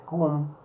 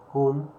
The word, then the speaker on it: Kuhn: es muy conocido, eh, que es Kuhn, así como se pronuncia, Kuhn, eh, y él habla